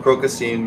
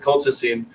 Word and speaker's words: colchicine: from what generally speaking, the crocosine, or I mispronounce it, I think you pronounce it colchicine, which is extracted from